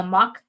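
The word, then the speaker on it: Mocch: Oh, is it mock? Because it's spelled, M-O-C-C-H, so mock.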